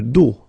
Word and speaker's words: dos: Le dos. Final S not pronounced.